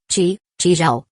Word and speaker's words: Zhao: 7-1, Zhao.